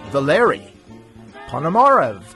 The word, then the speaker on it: Valery Ponomarev: It is my pleasure to introduce Valery Ponomarev to the show.